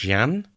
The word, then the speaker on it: Jeanne: That's probably an anglicised version, and based on the signature, it looks like her name was probably pronounced Jeanne.